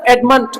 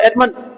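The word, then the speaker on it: adamant: ना पहले पढ़ेंगे आपका एडमंट बोलो ट आता एडमन एडम ट नहीं बोलोगे एडमन एडम बस एडमंड का मतलब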